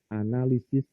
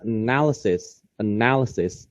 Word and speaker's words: analysis: to write to read analysis in English. Salwa kok ngomongnya analisisnya salah ya? Perhaps ya karena sebenarnya sudah saya ingatkan tapi mungkin Salwa lupa. Harusnya bacanya analysis ya. Salwa bacanya analysis. Salah.